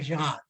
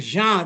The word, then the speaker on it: genre: I have heard it people saying it genre, but phonetically the word genre, because it is a French word and French language has nasal tone. So gender dictates the genre.